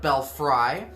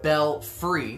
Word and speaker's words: Belfry: called belfry i know it looks like belle fry um it is bell-free that is the pronunciation of the brewery and wood fry grill